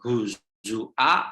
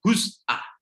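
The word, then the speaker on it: هزؤا: Jadi bukan huzua atau huzwa tapi huz'ah.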